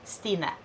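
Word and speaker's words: Sine: for the record is s i n e pronounced stina number two do you have any piercings why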